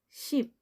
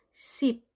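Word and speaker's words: 십: 9, ku, 10, ship. Ship, ayan. Yan po ang pagbigkas, guys. Ship, hindi siya sip, kundi ship.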